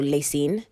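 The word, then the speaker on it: La Cygne: that they spell Lacine, because it's spelled L-A and then C-Y-G-N-E. And I don't know how you get Lacine from that. I literally had to type it out as lay and scene so I can remember how to say it.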